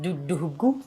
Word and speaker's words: Dudughu: So it's pronounced Dudughu.